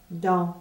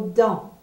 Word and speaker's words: dans: OK, regardez le mot dans, D-A-N-S. Le A et le N sont prononcés en. Et le S n'est pas prononcé du tout.